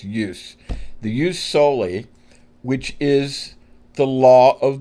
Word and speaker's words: jus soli: But we understand that it's pronounced in English to us like a J.